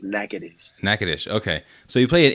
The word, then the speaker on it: Natchitoches: people are gonna say Natchitoches, but it's Natchitoches.